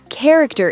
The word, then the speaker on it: character: Sometimes ch sounds like C, especially in words from Greek. Wait, what? Give me examples. School, character, chemistry, chaos, stomach. Hold on. School has a K sound. Yep. School, not sh character is career, not chctor.